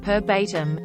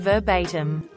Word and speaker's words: verbatim: had a manager who said perbatim instead of verbatim and I winced every